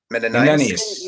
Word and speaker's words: Menenius: Menenius.